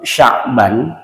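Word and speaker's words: شعبان: Contoh, orang nyebut Sya'ban tapi diganti dengan Sa'ban. Itu beda. Kalau Sya'ban itu bulan Sya'ban, kalau Sa'ban itu ular. Jadi shin sama sa itu sudah beda.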